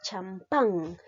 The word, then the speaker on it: champán: La siguiente palabra es champán. La mayor fuerza de voz lleva en la sílaba pan.